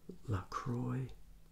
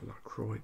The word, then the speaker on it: LaCroix: Today I'm reviewing this LaCroix Orange Sparkling Water, naturally essenced. Here's a picture of the can here. And the company reminds us that it rhymes with enjoy. It is not pronounced Lacrosse or Lacroix or whatever.